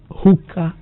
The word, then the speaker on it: Huca: Hookah is spelled Huca.